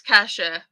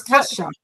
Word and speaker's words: Cassia: They did actually say that it's Kasha, but I said yes. Okay. But Okay. I said that I would be saying it wrong all the time. I'd be mixing in between both. So okay. I'm like, I didn't know. So it's Kasha. Kasha.